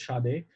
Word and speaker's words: Sade: yeah, And I love I think it's Sade. I think that's how they say it, Sade.